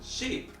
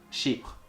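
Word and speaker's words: Chypre: in their own way sheep sheep it's it's spelt as sheep not sheep like that it's a sheep as in like CH y PR e and it's inspired by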